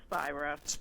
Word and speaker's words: Spira: director with us spear am i pronouncing your last name correctly it's spyro spiro you know it was